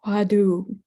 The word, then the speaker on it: Hwadu: And I'm familiar with the Korean pronunciation of the Hua Tao. In Korean, the pronunciation is the Hwadu.